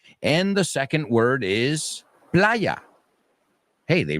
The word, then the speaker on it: playa: The second word is a word I know you all know, the word playa. I just hope you don't pronounce it like the word perra. Well, that's a mistake I've heard all too many times.